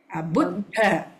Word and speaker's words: Buddha: Buddha, BUDDHA, DHA. So Buddha.